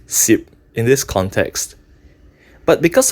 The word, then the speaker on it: 什: However, in Hokkien, this character (什) should actually be pronounced si̍p in this context.